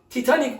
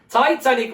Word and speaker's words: Titanic: bu ifadeye Titanik diyoruz Titanik ifadesi Titanik olarak değil Yabancı ülkelerde Titanik olarak değil taitanik olarak çevrilmektedir yani Titanic ifadesi çok